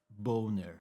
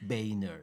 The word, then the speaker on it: Boehner: And his surname actually should be pronounced Boner. It's of it's of it's of German origin, right?